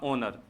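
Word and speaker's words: honour: गलती कर देते हैं इसको होनर बोल देते हैं यह इसका उच्चारण नहीं होता इसका उच्चारण एच साइलेंट होकर इसका होगा ओनर इसका जो ववलू एन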